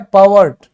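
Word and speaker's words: pervert: एक नया शब्द है पावर्ट पावर्ट ठीक है तो मतलब गंदी नजर से अगर कोई किसी को देखता है तो उसको हम क्या कहेंगे? पवर्ट। आर साइलेंट है। क्या बोलेंगे? पॉवर्ट।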